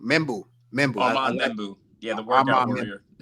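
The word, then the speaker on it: Membou: How you pronounce his name? Membu.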